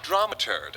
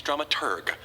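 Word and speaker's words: dramaturg: our stage managers flash drama turd the correct pronunciation is drum at urgh the researcher of the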